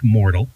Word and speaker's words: Mortl: Alisa thank you it's it's mortal thatd too easy it's it is relatively easy but it's we lost a vow somewhere in my family Jean Pool in Austria